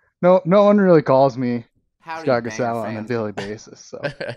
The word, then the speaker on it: Sgah'gahsowáh: I'm terrible at pronouncing names, and how the hell do I pronounce your name? It's Sgah'gahsowáh. Sgah'gahsowáh.